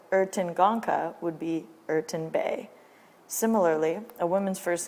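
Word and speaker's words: Bey: a man by his first name followed by bay pronounced spelt b-e-y so ertin gonca would be urton bay similarly a woman's first name would be followed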